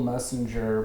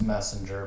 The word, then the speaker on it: Moessinger: name um it's it's it is messenger but the o is silent um so it's just it's messenger but with an o